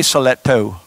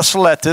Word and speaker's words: stiletto: Last time I almost got in a fight in the parking lot how to say stiletto. Not a stilettus, stiletto.